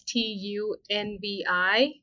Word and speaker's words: Tanvi: name is tanvi it is spelled as T NB if the listeners want to look me up but it's pronounced as Tu NV thank you Mom and